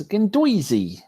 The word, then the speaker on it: Guendouzi: People want to say how I say the G bloke is Guendouzi. That's officially how you say it.